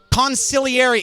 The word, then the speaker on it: consigliere: Consigliere. It's a soft G.